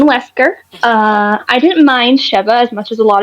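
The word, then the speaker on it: Sheva: I like cheva she's cool um so it's pronounced cheva I I always keep saying Shiva it's cheva I've heard cheva that's how I've heard it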